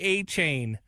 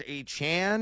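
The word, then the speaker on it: Achane: It's achan. I uh I got taught by the Miami School of Proper Pronunciations last year. It is not a chain anymore. It is a Chan now.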